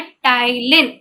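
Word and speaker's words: ptyalin: उसके बाद बात करते हैं कि स्टार्च के ऊपर रिएक्ट करता है सलाइवरी अमाइलेज, जिसका दूसरा नाम होता है टाइलिन, T silent TYALIN, टाइलिन।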